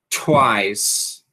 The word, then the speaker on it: twice: Lembrando que o T é aspirado, né? Twice.